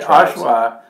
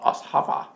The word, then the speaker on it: Oshawa: I know that Oshawa, my aunt used to call it Oshava. Oshava? Oshava. Because the W in Holland is pronounced with a V. They say Oshava.